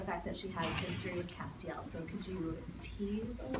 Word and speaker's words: Castiel: does have a history Castiel whose name I now know how to pronounce properly thanks to the people on social media who jumped to my uh correction when I announced it as Castile so I will never